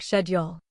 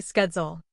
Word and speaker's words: schedule: In British English, it often sounds like schedule. In American English, it's usually schedule.